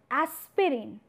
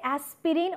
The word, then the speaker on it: aspirin: So, if you pronounce word aspirin, do you say aspirin or it's aspirin? Aspirin. So, I'm writing over here as well, it's aspirin. However, the spelling of this particular word is aspirin, right?